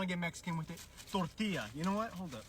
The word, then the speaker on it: tortilla: Totally forgot about those two L's. Tortilla. Tortilla. If you really want to get Mexican with it, tortilla.